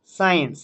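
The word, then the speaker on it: science: ঠিক তেমনি সিন, Saint, সায়েন্স, এখানে প্রত্যেকটাই কিন্তু সি সাইলেন্ট ওয়ার্ড।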